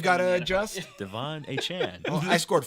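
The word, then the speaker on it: Achane: A-Chan. A-Chan, That's how he A-Chan. wants it pronounced.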